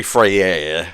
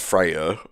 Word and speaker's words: Freyja: female counterpart of freyja that should be freya by the way not freya i won't judge anyone's pronunciation